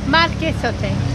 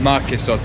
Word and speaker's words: Marquesote: Okay, so now we're gonna try one called Marquesote. And the stand here. Marquesote. Marquesote. Yeah, the U is not pronounced. Okay, Marquesote.